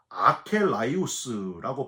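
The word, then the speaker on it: ἀκέραιος: 헬라어로 아켈라이우스라고 발음을 하는데 부정접두어 아와 혼합하다라는 뜻의 케란뉘미라는 말의 합성어입니다.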